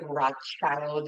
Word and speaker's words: Rothschild: in German it is spelled Rothschild um it's pronounced like Rothschild in the red shield in German and he